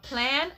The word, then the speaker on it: Plann: You can also download an app called Plan. I believe the free version of Plan will give you an idea as well. And that's spelled PLANN.